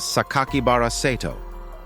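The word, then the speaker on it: 酒鬼薔薇聖斗: red ink and included a six character name that can be pronounced as sakakibaraceto the initial message that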